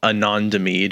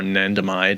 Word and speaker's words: anandamide: such as one called anandamide or anandamide. I've heard it pronounced a couple different ways, in what's called our endocannabinoid system.